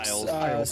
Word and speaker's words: Biles: How do you pronounce her last name? Biles.